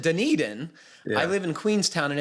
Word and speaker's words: Dunedin: work and in 259 you said dunadan and he says you pronounce it dunedin i live in queenstown